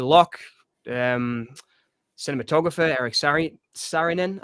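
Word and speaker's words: Saarinen: um cinematographer Eric Sarin Sarinin I think you pronounce it. I think it's Sarinin. S A R I N.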